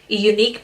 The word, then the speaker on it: Eunique: And then this brand Eunique Beauty, I think that's how you say it. There's an E before the Unique.